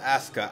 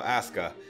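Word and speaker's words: Asuka: Roman reigns and Aska somebody said it was pronounced Aska I don't actually watch WWE it looks to me like a Sukkah but apparently the U is silent so Aska can't wait to do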